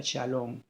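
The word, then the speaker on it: שָׁלוֹם: En hebreo se pronuncia shalom y en griego se pronuncia Irene.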